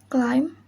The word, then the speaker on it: climb: B is not pronounced after M at the end of a word. Example: climb, cram, dumb, comb, and thumb.